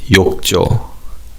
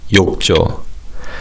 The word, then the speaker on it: 욕조: Now in terms of pronunciation, the second syllable 조 is pronounced as 조. So it's 욕조. 욕조.